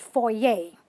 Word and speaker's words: foyer: our city but anyway in french or in france you call it a foyer and this is how you say it for yay okay this is one